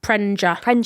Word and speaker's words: Prenger: How do you say it? Prenger. Prenger. Yeah.